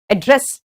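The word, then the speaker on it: address: जब आपका पता है तो, और जब ये संबोधित करने के लिए तो एड्रेस, एड्रेस। एड पे जोर नहीं है, एड्रेस।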